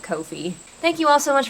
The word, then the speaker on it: Ko-fi: It feels weird to pronounce it coffee, so I just pronounce it Ko-fi.